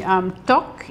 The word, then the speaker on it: tteok: But the base is bubbling away here and we're putting the tteok. Yes, that's right. You're pronouncing it beautifully.